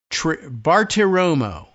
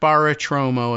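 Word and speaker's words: Bartiromo: Maria Bar Bartromo, not Baratromo, as I once thought, but I think I said it right all day long here.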